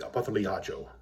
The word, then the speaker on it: Opothleyahola: I'm going to try to say the name in Greek, Opothleyahola. It's written as Hopeth-Harjo, but then again, Opothleyahola is written down sometimes as Hopeth-Yahola. That's not how you pronounce his name.